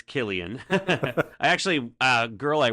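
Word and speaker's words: Cillian: see is that how you say his name Killian Killian wow not did not know that yeah everyone says cilian yeah I mean I thought it was Sicilian to be honest no uh no it's Killian I actually a girl I work with she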